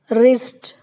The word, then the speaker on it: wrist: W is not pronounced at the beginning of a word when it is before R. For example, right, wrong, rack, rap, wrist.